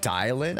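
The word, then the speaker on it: Dialyn: It's pronounced Dialin.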